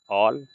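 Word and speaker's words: all: होती है यहां पर जब किसी वर्ड में अगर ए के बाद डबल एल आए तो इसको ए को ओ से पढ़ते हैं जैसे A double L एल ऑल इसको ल पढ़ेंगे ल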